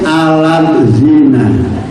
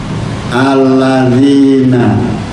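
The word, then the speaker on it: الذين: AB am dan sebagainya sebab kalau di tulisan latin kadang berbeda membacanya alladzina kalau latin alat zina Iya kan itu aladzina Arab ngelatin alat zina kan berbeda mengucapkan huruf ya sesuai dengan kaidah ada anak-anak yang membaca alladina Enggak bisa alladina alladina dalal itu dibaca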